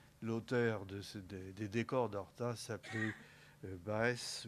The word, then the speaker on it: Baes: L'auteur des décors d'Horta s'appelait Baes, ou Basse, selon la façon dont on veut le prononcer, Henri Basse, qui était